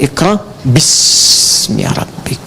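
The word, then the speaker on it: اقرأ باسم ربك: Itulah sebabnya ketika walaupun di sini ada alifnya, tetap dibacanya cepat dan pendek. Iqra bismi rabbik.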